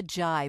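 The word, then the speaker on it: Zhai: Cynthia Jai, but it's spelled Z-H-A-I, I believe. Okay.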